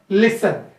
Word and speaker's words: listen: It's not T is a silent, my dear student. See, ta sound is not written here. This should be pronounced as a listen.